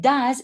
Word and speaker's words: does: Because does is an auxiliary, the pronunciation of does needs to be light. Does he? Does she? Okay, but in the answer, it is more emphasized.